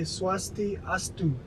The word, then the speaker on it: Swastiastu: Balinese language, you say swasti astu.